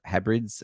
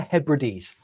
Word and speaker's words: Hebrides: remote Islands the outer hybrids am I saying this right almost outer Hebrides Hebrides I'm seeing it spelled out next to me which is why it makes me it's spelled Hebrides yeah produce everything so